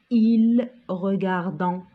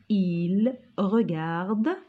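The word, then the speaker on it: regardent: On ne prononce pas ent. On ne dit pas il regardant, parce qu'il y a beaucoup d'entre vous qui prononcent ent. On dit il regarde, elle regarde avec ent à la fin.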